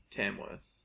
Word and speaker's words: Tamworth: So there's that, and then at the same time there's people from Tamworth pronounce it TEM. Yeah. It's people outside Tamworth say TAM. Tamworth. Like with Alan. Tamworth.